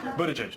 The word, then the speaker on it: Buttigieg: Best way to pronounce your last name. Buttigieg, but around South Bend, they just call me Mayor Pete, and that's fine with me.